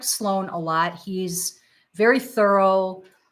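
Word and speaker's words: SLO4N: His name is Sloan, but it's spelled SLO, the number 4, N.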